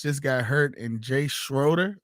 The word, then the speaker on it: Schroeder: So Doug Williams just got hurt, and Jay Schroeder. That's how you say it? Schrader. Schrader.